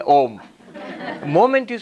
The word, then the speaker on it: Om: The rules of Sanskrit grammar say when you put A and U together, it becomes O. O. So when the comes after that, correct pronunciation is Om.